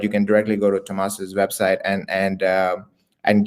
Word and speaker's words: Tomas: Tomas.